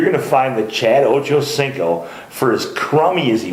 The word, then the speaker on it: Ochocinco: And then for reference, it's Ochocinco, all one word. Ochocinco.